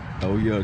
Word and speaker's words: Ye: Well, he changed his name to Ye a really long time ago.